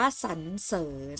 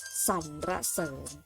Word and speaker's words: สรรเสริญ: ที่ 1 อ่าน ว่า สรรเสริญ เอา แบบ ที่ 2 อ่าน ว่า สัน-ระ-เสิน เด็ก ๆ สังเกต ไหม คะ สังเกต ว่า อ่าน เป็น เสียง อะ แล้ว มี ตัว สะกด อยู่ ใน มาตรา แม่ กน แล้ว ก็ อ่าน ออก